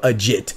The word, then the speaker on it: Agit: by the name of Ajit yes Ajit kabayel I pronounce it a jit it might be AIT cabel I call it a jit because a jit is legit you know a jit